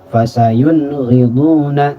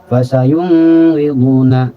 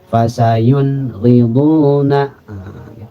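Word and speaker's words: فَسَيُنْغِضُونَ: Fasayun riduna. Jadi tidak dibaca fasayun riduna atau fasayun riduna. Apalagi fasayun riduna. Masih ada yang seperti itu ya. Jadi dibunyikan n-nya itu jelas tanpa dilamakan. Fasayun riduna.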